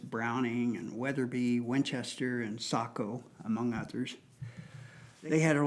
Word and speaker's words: Sako: the years I've learned uh the correct Finnish pronunciation is Sako not SEO like the watch uh whether you know how to pronounce it or not you'll run into more folks that say Seiko than those that say Sako because uh that's